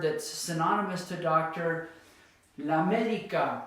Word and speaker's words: médica: synonymous to doctor, la médica. Now it's at the very front of the word, la médica.